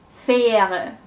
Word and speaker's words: Fähre: Fähre. Fähre. This is a long stretched ä sound.